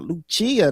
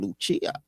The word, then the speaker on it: Lucia: But first, before we let our guests come in, what did you think about Lucia? That's how you say her name, Lucia.